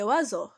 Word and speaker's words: oiseaux: on prononce paloise hawks mais ces oiseaux donc on prononce pas le x c'est-à-dire on l'entend pas alors mes chers élèves